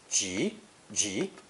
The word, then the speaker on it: 急: Also pronounced second tone, ji, ji, because of the purple phonetic.